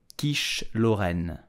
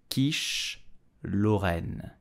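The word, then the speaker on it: quiche lorraine: I love this dish so how do you pronounce it in French correctly you will say Kish Loren Kish Loren quiche Loren did you know that the Kish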